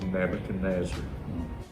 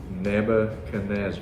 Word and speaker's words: Nebuchadnezzar: Now this man, he has one name, but it's 5 syllables, which is a lot for one man's name. Sure. And that man's name is Nebuchadnezzar.